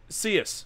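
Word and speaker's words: Coeus: boys in Greek mythology oh it's pronounced seus sorry my bed and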